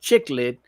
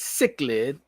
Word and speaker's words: cichlid: work something out uh pronounce sick lid i stand correctly all right so i just do some new york and made it chiclet but it's cichlid i said mama